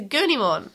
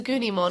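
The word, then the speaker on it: Agunimon: legendary warrior agne monafire it's a gurney mon it's a goonie more it's agony one that's spelled no actually it's not it's a goony mon because it's japanese and that wouldn't have just a g by itself it's goo it's ngu but it would be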